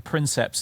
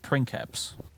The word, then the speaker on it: princeps: Kaiser for example but they don't get on you for saying princeps instead of print caps or veni vidi vici